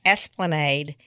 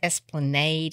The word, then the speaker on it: Esplanade: And I was thinking about Panta, and it's out on Esplanade, which is going down towards City Park. And I was, I'm pretty sure it's Esplanade in New Orleans instead of Esplanade.